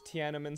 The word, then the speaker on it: Tiananmen: It's Tinian Square. I don't know how to say it. You saying it wrong? Tinian Square. It's not even close. I don't know how to say the word. Where's Tiananmen Square?